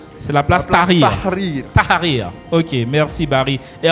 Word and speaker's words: Tahrir: Bon, Barry pourra mieux prononcer que moi. C'est la place place Tahrir. Tahrir.